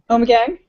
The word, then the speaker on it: Ommegang: OMG, Ommegang. That's how you say it.